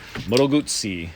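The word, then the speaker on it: Moto Guzzi: a 2009 moto boot see it's Italian you got to say it correctly moto boots see is a v7 classic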